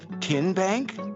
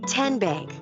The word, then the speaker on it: TN Bank: you enroll wildcats roll how do you say the name tn bank no tin bank uh-uh so what is it ten bank ten as in tennessee right here where all